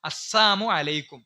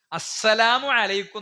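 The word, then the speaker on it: السلام عليكم: പോലും പ്രവാചകൻ എടുക്കുന്ന സ്റ്റെപ്പ്, യഹൂദികൾ വന്നിട്ട് പ്രവാചകനോട് പറഞ്ഞു അസ്സാമു അലൈക്കും. വളരെ ശ്രദ്ധിക്കണം. നമ്മളൊക്കെ സലാം അൽപ്പായി പോണ രൂപമാണ് അസ്സാം അലൈക്കും എന്ന് പറയും. എന്താ അസ്സാം അലൈക്കും എന്ന് പറഞ്ഞാൽ? അള്ളാഹു നിങ്ങളെ നശിപ്പിക്കട്ടെ എന്നാണ്. അസ്സലാമു അലൈക്കും എന്നാണ്.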